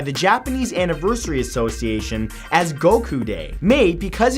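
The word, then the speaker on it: 五: In Japan, May 9th is officially recognized by the Japanese Anniversary Association as Goku Day. Made because in Japanese the number 5 is pronounced go and the number 9 is pronounced ku.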